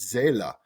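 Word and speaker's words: Seele: certainly the one you've just mentioned, which is pronounced za, capital s e l e, uh, which is this this German word uh, for the mind.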